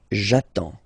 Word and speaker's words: j'attends: So the first form will be j'attends, j'attends. Okay, you get D and S, well basically you don't pronounce them, okay, and then you get only the sound attends, nasal here, en, j'attends, okay.